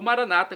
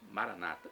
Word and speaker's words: Maranata: tônica na última sílaba o Maranata com a tônica na penúltima sílaba como diz nossos irmãos como dizem os nossos irmãos separados evangélicos ou protestantes Maranata Não importa se amar